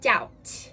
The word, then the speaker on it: doubt: the end do not pronounce it so the pronunciation is doubt here's an example I like them I just